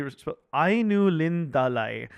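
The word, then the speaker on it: Ainulindalë: world comes into being uh is through the ayu lindulu lindal. You guys know I'm great with pronunciation. Uh but oh yeah hey it's actually au lindalai.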